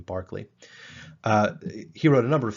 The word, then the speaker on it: Berkeley: The British say that word Berkeley, even though we in the United States tend to say it Berkeley.